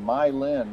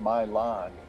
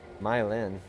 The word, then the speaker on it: Milan: Henderson was just saying my Lynn not my lawn myelin okay I've been through